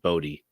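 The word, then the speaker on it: Bode: article that said uh joe hill um pronounces it bodhi okay there you go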